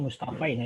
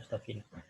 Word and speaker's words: مصطفين: Nah, Mustafina, ini bacanya Mustafina ya, bukan Mustafina.